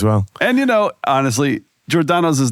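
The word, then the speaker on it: Giordano's: an Italian background is jordano it's like a j sound right but here in Chicago everyone's like giordanos I'm like that's weird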